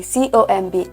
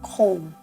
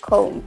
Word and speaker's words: comb: By the way, C-O-M-B is correctly pronounced comb. Please take note, comb, not comb. The final B is silent.